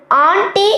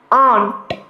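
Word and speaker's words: aunt: എന്ന് പഠിച്ചു ഇതേപോലെയാണ് മാമി മാമിക്ക് നമ്മൾ ആണ്ടി എന്ന് പറയും പക്ഷേ ശരിക്കും പറഞ്ഞാൽ ഇത് ആന്റി എന്നല്ല നമ്മൾ പറയേണ്ടത് ശരിക്കത്തെ ഉച്ചാരണത്തിൽ നമ്മൾ പറയുക ഓൺ എന്താണ് ഓൺ ഇനി നമ്മുടെ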